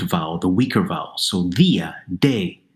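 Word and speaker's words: día: So dia, de, we add an accent, and we make it a 2-syllable word. It's as if both of those vowels are now open, now strong, so they each deserve their own syllable.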